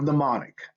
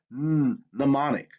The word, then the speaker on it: mnemonic: okay now you have mnemonic again the m is silent you have that mnemonic and once again if